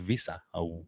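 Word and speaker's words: Wissa: And it was u is it pronounced visa from Brenford. Oh yes. Sorry. That's right. It wasn't it? Yes. That's right.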